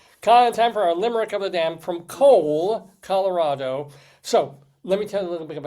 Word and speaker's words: Cole: So, population 6,000, 60% of Cole is Hispanic, which is kind of interesting. How do you spell it? C-O-L-E. Like coleslaw.